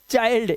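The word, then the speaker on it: child: में आ रहा होगा जब आई के बाद एन या एल डी दिखाई दे यहां पर एन डी है आई के बाद आई के बाद एल डी है तो आई का उच्चारण आई करना है mind find bind वाइल्ड चाइल्ड चिल्ड नहीं करना इसको चाइल्ड यह रूल है।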